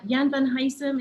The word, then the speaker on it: Jan van Huysum: Jan van Huysum, is that how you would pronounce his name?